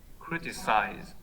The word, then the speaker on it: criticize: duration is not enough let's think about intensity criticize uh criticize which syllable is more intense and criticize sorry yeah it's criticized yeah there's more strength that's why yeah this is why you thought that stress on was on the last syllable because it's more intense but really the stresses on the first syllable criticize yeah in radio uh